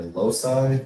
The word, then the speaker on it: loci: Is it loci or loci? Loci? It's most commonly pronounced loci, rhyming with the word sky.